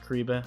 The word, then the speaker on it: Kyriba: That's pronounced Kyriba.